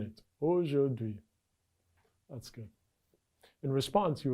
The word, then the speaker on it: aujourd'hui: Aujourd'hui.